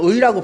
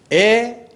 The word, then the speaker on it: 의: 의의 발음은 의, 에, 이 이렇게 다 세 가지로 발음할 수 있어요. 상황에 따라서. 다만 의사라든가 의견이라 할 때는 앞에 올 때는 반드시 의라고 발음해야 돼요. 그러나 두 번째 이하에 올 때는 특히 조사로서는 에라고 많이 하잖아요.